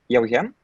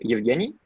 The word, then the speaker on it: Yauhen: E is in Belarusian my name is pronounced like is as Yauhen, but like in Russian it is like Yevgeny.